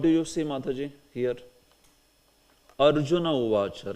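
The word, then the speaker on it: अर्जुन उवाच: And you will also pronounce it as Arjuna uvacha. If you say this as Arjunaha uvacha, that is not good, because sandhi has been made already.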